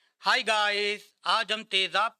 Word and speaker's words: تیزاب: पहला मुरक्कब लफ्ज तेज है। दूसरा मुरक्कब लफ्ज आब। तेज, आब, तेजाब। तेज यानी शदीद या काटदार।